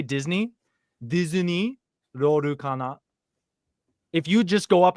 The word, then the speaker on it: Lorcana: So how do you pronounce Disney Lorcana? Disney Lorcana. Okay, I was saying Disney Disney. Lorcana.